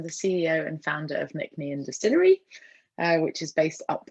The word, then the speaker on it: Nc'nean: I would pronounce it Nc'nean. Yeah, Nc'nean. Nc'nean. Nc'nean. Nc'nean. Nc'nean. Nc'nean. Nc'nean. Nc'nean. It's Nc'nean. Nc'nean.